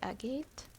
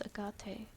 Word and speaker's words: agate: It's pronounced like agate? I thought it was agate.